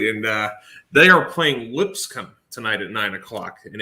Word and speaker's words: Lipscomb: doing doing great and uh they are playing lipscomb tonight at nine o'clock in a-sun foe so are you sure is that right because i never know how is that the right way to say that school lipscomb yeah yeah lipscomb they're out of nashville tennessee